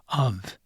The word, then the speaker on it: of: Next, O is pronounced as though it were spelled uv of.